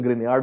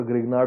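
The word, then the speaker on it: Grignard: होता है, ग्रिगनार्ड reagent, उसकी प्रोनाउंसिएशन ग्रिनियार्ड होती है पर ग्रिगनार्ड बोल देते हैं उसको हम। ओके, प्रोनाउंसिएशन अलग होती है, फ्रेंच नाम है वो।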